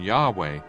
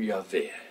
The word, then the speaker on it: Yahweh: favor of the form Yahweh. To the contrary, there is much evidence that the name of God consisted of three syllables and not two, as we have in Yahweh.